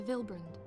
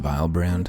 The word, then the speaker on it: Villebrand: during our visit to villebrand it's pronounced vilebrand share my conclusions with